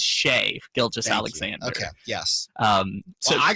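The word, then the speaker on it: Shai Gilgeous-Alexander: just Alexander is trash how'd you pronounce his name shy Gill just Alexander but I'm just doing it to be I know yeah I got it it's correct got it correct is shave Gill just Alexander okay yes um so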